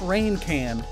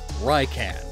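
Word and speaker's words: Raican: it to the ground the third evolution is rykan not rain can rycan ryan again for lion and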